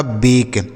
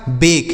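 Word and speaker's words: bake: इसे क्या पढ़ा जाएगा बेक इसे बेके नहीं पढ़ेंगे या बाके नहीं पढ़ेंगे बेक पढ़ेंगे क्यों पढ़ेंगे समझ गए कि लास्ट में अगर ए कहीं लिखा हो लास्ट में इ लिखा हो तो हम उसे ए की मात्रा पढ़ेंगे लिखा है बेक उसी तरीके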